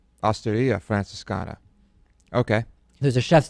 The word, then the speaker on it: Osteria: The emphasis is on the I. Osteria. Osteria Francescana.